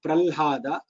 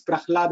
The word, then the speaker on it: Prahlada: Whether it is convenient to pronounce it as Prahlada or Pralhada. But the answer is Prahlada only.